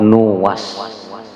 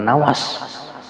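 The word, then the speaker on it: نواس: itu abu nuas nah ini bacanya bidamin Nuni Wal wawi dengan mendemahkan Nun dan mendemahkan Wau nuas bukan Nawas tapi kisah ini kisah-kisah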